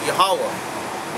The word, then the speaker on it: Yahawah: You can't pronounce Yahweh out of those 4 symbols. Out of the mark, the little square, the line, then the other ha ending. Yeah. His name is supposed to mean something. You know? You can't get Yahweh out of that. Yahweh, that's like a fucking 3-symbol word, man. That's not even a word in the Hebrew.